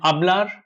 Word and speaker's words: hablar: We have to pay special attention to the pronunciation here because H is not pronounced in Spanish at all.